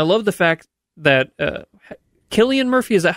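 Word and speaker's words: Cillian Murphy: was and I love the fact that uh Killian Murphy is that how you say his name I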